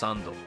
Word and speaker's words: 3nd: interesting though as it takes the number three which is pronounced as sun in Japanese and mixes it with the ND selfix you would use